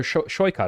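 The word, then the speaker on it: Saikat: And finally, for California's 11th district, that's right by me, homegrown, Saikot Chakrabarti, or Shoykot, excuse me. You told me how to say it. Yeah, no, you got it.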